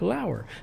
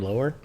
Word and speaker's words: Lauer: Ryan Lauer and he he actually he wrote pronounced like Lauer thanks cuz sometimes I say Ryan lower whoops anyway says hey Andy